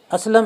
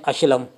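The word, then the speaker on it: اسلم: असलम इस तरह से लिखा जाएगा, अलिफ और उसके ऊपर ज़बर, असलम पढ़ा जाएगा। और ज़ेर ज़बर और पेश का ख्याल रखें। और बहुत से बोलते हैं अशलम, तो ये गलत है, ये इसका लफ्ज़ आप गलत समझिए।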